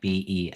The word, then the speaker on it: Beledros: Beladros? B? Bellatrix. It started with a B? I thought it was Beladros. I wrote Yeah. it down as It's BB. Beladros. Yeah. B. Beladros. Yeah, like Beledros.